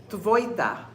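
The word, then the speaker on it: твойта: Tvoita. So it's tv. So you're saying T and make it like an F.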